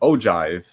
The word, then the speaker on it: ogive: say this right it's an ogive it's not ogive it's pronounced ogive right the ogive line displays the cumulative frequency